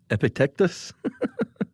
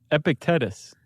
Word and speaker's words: Epictetus: Uh Seneca, and then a very important Stoicist uh Well, I'm going to pronounce it Ep- Epic- Epic-tec- Epictetus. Epictetus.